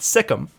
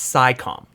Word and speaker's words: SciComm: It's not Sikkim, it's SciComm.